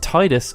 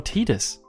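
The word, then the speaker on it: Tidus: discussion so with that is it Titus or Titus to preface the rest of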